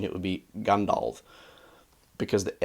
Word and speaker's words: Gandalf: Gandalf. The A is ah, okay? I'm pronouncing it like ah, not O.